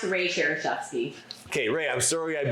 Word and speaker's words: Szereszewski: We have Rae Szereszewski. Sure. Oh boy, she's gonna kill us for that. We'll clear that up in a minute. It's pronounced Rae Szereszewski.